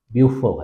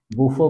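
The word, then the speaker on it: Bufo: हो तो इसकी दवा ब्यूफो है। बूफो भी कह देते हैं, ब्यूफो भी कह देते हैं।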